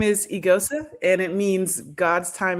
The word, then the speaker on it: Eghosa: Um, the pronunciation when my Nigerian family says it is a little bit different. ISAsa is kind of the easiest way to uh explain, but a lot of folks pronounce it aosa.